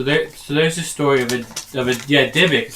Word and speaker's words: Dybbuk: So there's a story of a Dybbuk is how you say it, a Dybbuk box.